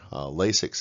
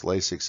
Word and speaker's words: Lasix: I'd is 4 syllables lasix is 2 and so you will